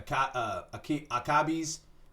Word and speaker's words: Akebi: other things that fall into place like a akabi's uh sailor uniform oh you know what I've seen this one it's pronounced akabi so akebi's uh sailor uniform Attack